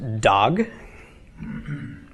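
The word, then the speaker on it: דג: by a gimel so we pronounce the d of the da 'let the ah of the comments and finally the G of the gimel so this is pronounced dog dog okay it's not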